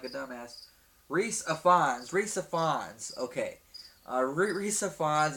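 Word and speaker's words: Rhys Ifans: I want to pronounce his name wrong, and I want to feel like a dumbass. Reese Ifans.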